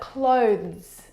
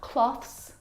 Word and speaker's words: clothes: But clothes, clothes, not cloths, not clothes, and not clothes either. The difficult thing about the pronunciation of this word is the two consonant sounds v and z together. Both of those sounds are voiced consonant sounds.